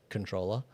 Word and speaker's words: comptroller: Um, uh, Skynet has corrected me on my pronunciation of comproller. I prefer to say comproller, even though apparently it's just controller.